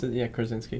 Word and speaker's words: Krasinski: Krasinski.